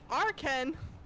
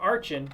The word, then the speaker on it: Archen: whomever which you mean arkhan arkhan or archen however you want to pronounce his name arkhan who evolves into